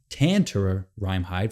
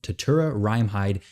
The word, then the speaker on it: Tatura Rimehide: at tatura rimehide which i'm hoping to not mispronounce his name tantura rimehide for whatever reason i keep wanting to add an n right after that a but we're going to call him tatura rimehide like we're supposed to but let me